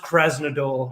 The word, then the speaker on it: Krasnodar: uh wherever they're from it's pronounced krasnodar okay where is pretty